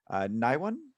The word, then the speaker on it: Naiwan: So again, we have Parth, Tiziano, Dimitri, and Naiwan. Am I pronouncing that correctly? Yes, correctly.